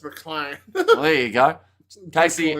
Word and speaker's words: McLean: And it will be Casey McLean who gets the try for New Zealand. Oh, Casey McLean. Casey McLean? McLean or McLean? Probably McLean. I would imagine it's McLean.